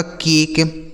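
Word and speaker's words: cake: सी ए के ई यह हो गया आपका केक।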